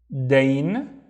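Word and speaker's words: دين: Dain, which means debt. And how do you think we pronounce it?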